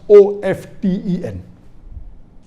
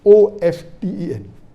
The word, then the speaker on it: often: new people are saying of 10 is correct t is not silent it should be pronounced some said t sign